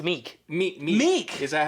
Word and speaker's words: Miek: Yeah, I kept wanting to say Mike, but I kept thinking like. Is it Mike? But it is Mike, but it's spelled like Miek. Oh, okay. But yeah, for Meek. It's Meek. Meek.